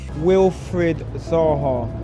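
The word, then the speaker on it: Wilfried Zaha: Wilfred Zaha.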